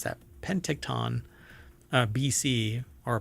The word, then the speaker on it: Penticton: um telescope located in uh pent is it pent how do you pronounce that Penton uh BC or P Penticton Penticton there you go I guess so that's